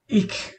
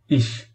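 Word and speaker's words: ich: ইখ অথবা ইশ, ইখ অথবা ইশ আপনি যেটাই বলেন না কেন দুটোই সঠিক।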